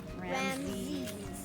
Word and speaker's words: Ramses: It's spelled R-M-R-A-M. Zed? Z-E-S. Ramses.